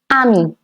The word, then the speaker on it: ami: For a male friend, it is ami. A-M-I. Ami. And for a female friend, it's going to be ami with the same pronunciation but with an extra E to it.